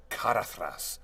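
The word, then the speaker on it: Caradhras: Well, Carathras is not spelled with a TH. It's spelled with a DH. So you get that Anglo-Saxon Tolkien soft consonant of Carathras or Galadriel, you know.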